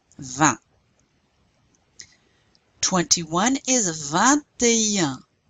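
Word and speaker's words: vingt et un: 21 is 21. 21. Now you do pronounce that T because it comes before a vowel, but you don't pronounce this T. This A means and.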